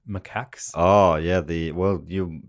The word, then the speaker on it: macaque: to pronounce it like macaques oh yeah the well you you'd love hit monkey because he is a Japanese macaque right or macaque makup ending on depending on how many of his ex-wives yeah